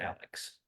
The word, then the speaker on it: Alex: If I'm talking to people that's not from there, I call it Alex. Yeah, because that's the way it's spelled. That's the way it's spelled. Yeah. Viewers, if you're not familiar, ALEX is Alec. But if you're from there, you call it Alec.